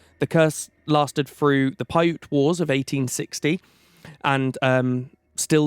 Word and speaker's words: Paiute: The curse lasted through the Paiute Wars of 1860 and still lingers today with